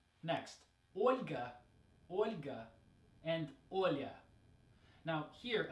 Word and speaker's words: Olga: So, Olga, not Olga, right? We need to make that soft L sound.